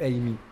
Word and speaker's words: Ame: Et du coup, Amé ou Amy? Parce que moi, je dis Amé. Moi, je dis Amy. Ok. Je prends la prononciation ouais, anglaise.